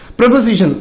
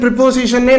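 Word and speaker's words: preposition: ப்ரொபசிஷன், இதனுடைய உச்சரிப்பு ப்ரொபசிஷன், TION. இது ப்ரிப்போசிஷன், ப்ரிப்போசிஷனே நம்ம உச்சரித்து பழகிட்டோம். இதனுடைய உச்சரிப்பு ப்ரிப்போசிஷன் கிடையாது, இதனுடைய உச்சரிப்பு ப்ரொபசிஷன், ப்ரொபசிஷன், ப்ரொபசிஷன்.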